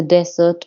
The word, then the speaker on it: desert: She saw the desert of her coming days, imaged in every solitary hour. now you have to pronounce desert a little better. Desert. Desert. Desert. Accent on the first de.